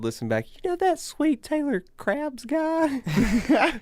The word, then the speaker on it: Krebs: My last name's Krebs. Krebs. Crabs.